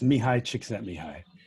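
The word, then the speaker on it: Csikszentmihalyi: through the session please it's mihai chick sent me high whoa i'm impressed thank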